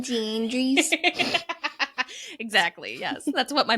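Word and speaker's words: Jeanne des Anges: Her name spelled out, we might pronounce it as like Jeanne d'Anges, but I'm really trying to maintain my pronunciation here, so we're just going to call her Mother Jean.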